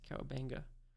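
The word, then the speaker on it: Kowabunga: Turbo Granny really say Kawabunga? Kawabanga? Kawabanga? Kawabunga? No, it's Kawabanga.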